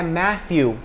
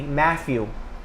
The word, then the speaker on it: Matthew: Muitas pessoas colocam um F. Por exemplo, meu nome em inglês, claro, é Matthew. Mas as pessoas colocam como fosse um F, Matthew. Você pode perceber que é bem parecido, mas não é.